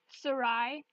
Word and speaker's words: Sarai: auditioning alright so the first wolf is sarai that's how you say her name for anyone who has